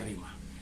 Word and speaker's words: rema: Dan ketika firman Allah yang logos itu menjadi rema, atau menjadi rima, ya rema, tulisannya rema tapi membacanya rima.